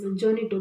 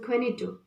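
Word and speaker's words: Juanito: characters, Don Gonzalo, and here it seems the pronunciation as Jonito, but it's not Jonito, but it is the Spanish word. The Spanish pronunciation is Quenito.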